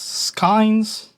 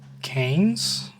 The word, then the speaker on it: skeins: I realized I never actually internalized how to pronounce that. It's pronounced in many ways? Okay. Canes? I imagine no one cared to maintain the sound in that word, so everyone just says skiing. But according to my thing is skeins.